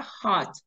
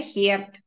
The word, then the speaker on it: heart: напевно розділимо цю тему Hat це серце да хат через а не херт не хюрд А болить спричиняє біль через іода має Heart Hurts болить серце А що таке повторіть ещё раз Как сердце произносится просто хат А що таке АРМ